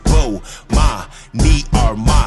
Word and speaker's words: Bomani Armah: announcements imma say my name so you can pronounce it whoa ma me are my shout out to early visors I see who